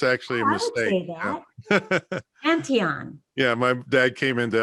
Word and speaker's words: Antion: do you say your last name it's antion it's actually a mistake antion yeah my dad came into ellis island from